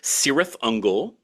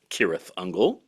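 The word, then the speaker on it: Cirith Ungol: Trad metal bands like the great sirth unle which should properly speaking be pronounced kirth unle with one foot in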